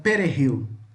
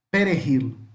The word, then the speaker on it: perejil: A salsa, nós podemos traduzir ela como perejil, perejil, tá? O J tem som de R, tá? Então, perejil, perejil, tá?